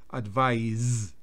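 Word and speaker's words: advise: verbo es con s advice y se pronuncia como si fuese una Zeta permitir tu enser responder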